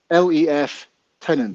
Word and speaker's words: lieutenant: left left left tenant so if phonetically would be lef tenant yeah lieutenant i've never